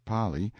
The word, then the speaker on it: Pali: frightful precipice of the Pali pronounced Pali intelligent natives claim that there is no R in the kanaka alphabet in front and then